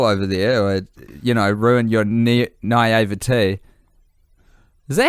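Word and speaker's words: naïveté: I don't want to burst your bubble over there or, ruin your naivete.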